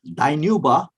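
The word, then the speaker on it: Dinuba: are called still it's very active town uh dainuba and ridley and anuba is spelled u b d-i-n-u-b-a and ridley r e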